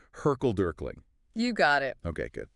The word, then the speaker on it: hurkle-durkling: The report mentions something called, and I'm not even sure if I'm pronouncing this right, Hurkle-Durkling.